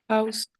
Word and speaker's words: house: House, maison. Ok. Sleep, dormir. Mhm. Cat, chat. Ok. Bed, lit. Ok. Insiste bien sur le H.